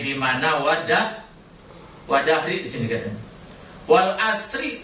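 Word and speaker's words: والعصر: Wal asri dibacanya wal asri majrur, nggak boleh dibaca wal asru doma, nggak boleh dibaca wal asro, karena wawunya di sini wawu kosam, wawu sumpah.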